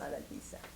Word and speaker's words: Adaljiza: Adaljiza Sosa Riddell. Adaljiza? Adaljiza. Adaljiza? J is a J.